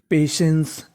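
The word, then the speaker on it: patience: टी आई यहां पे टी आई को उच्चारण करना है हमें शे क्या करना है शे तो पूरी मीनिंग पेशेंस पेशेंस पेशेंस का मतलब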